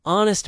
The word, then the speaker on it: honest: Don't say he is a honest man. Say he is an honest man. The word honest starts with a vowel sound because the h is silent.